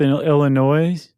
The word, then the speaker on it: Illinois: Followed by Monmouth, Illinois. I forgot the S is silent.